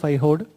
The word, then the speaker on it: Aihole: So you can see the spelling of Aihode. It's in Karnataka. We write it Aihole, but the pronunciation in Kannada is the Aihode.